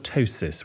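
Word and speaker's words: ptosis: I've got something called a tosis with a silent p and uh is that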